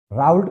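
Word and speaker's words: Raoult: का नियम बहुत इंपॉर्टेंट है जी लॉ ऑफ राउल्ट का स्पेलिंग क्या दिया हुआ है देखिए तो राउल्ट का नियम आर ए ओ यू एल टी लॉ ऑफ राउल्ट या राउल्ट्स लॉ।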